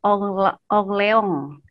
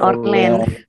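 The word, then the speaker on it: Orléans: Bacanya kalau bahasa sananya Orleans gitu Kak bacanya. Bukan Orleans. Kalau baca sini orange juice katanya.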